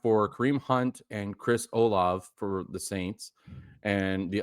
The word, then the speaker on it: Olave: rid of Kraft for Kareem Hunt and Chris Olave for the Saints. And the other one was Kraft for Olave and Rashad. It's Olave.